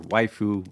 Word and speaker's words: waifu: It says Waifu Hunters on it, or Waifu is apparently the correct pronunciation.